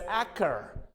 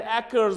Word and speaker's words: acre: ache we have got another word as acre many people I have seen reading it as akker akker and it's not Acker 10 acres of land it's not 10 acres ten acres of land acre acre so apricot April chamber